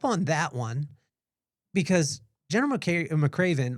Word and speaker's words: McRaven: so Admiral McRaven. Okay, Admiral McRaven.